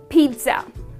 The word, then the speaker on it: pizza: Pete yeah so here the Pete will be rhyming with wheat so it drags with the word wheat and then you say Pete so it's pizza all right that's the